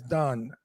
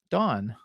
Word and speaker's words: Dawn: He pronounces Dawn as Don. Dawn. It's not D-O-N. It's That's a man. D-A-W-N. She's Dawn. Pronounce the W.